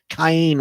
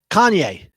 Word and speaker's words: Kanye: cayenne what king gladney i say his name kaine west kanye thank you evan's a pop culture guy so